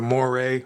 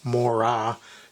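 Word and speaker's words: Moiré: the robot that has the Mo or more correctly pronounced Mora display.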